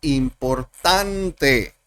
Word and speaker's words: important: Si yo tengo la palabra importante, en inglés sería important. Son 3 sílabas. Y de las 3 sílabas, el acento está en tent, en important. Y las otras 2 sílabas pierden sonido.